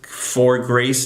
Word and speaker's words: For Grace: my favorite food documentary on Netflix it's called fur grace I tell everybody about this documentary it's for grace it's spelled fo r it's about this man in